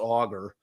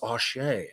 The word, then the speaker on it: Auger: Essentially, this argument, and this was her name is not pronounced Auger, and the judge thankfully clarified that. Everybody has been calling her Auger. She's the new addition to the defense team. It's spelled Auger. It sounds like it's pronounced Aucher, so it's a nice, sounds French, very French name.